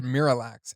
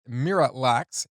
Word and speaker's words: Miralax: The way M pronounces it, Miralax, is also a homophone to the phrase mirror relax from the previous line.